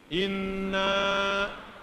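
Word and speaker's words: إنّا: Masih ingat tadi kalimatnya menggunakan inna, pendek atau panjang? Gimana bacanya? Inna.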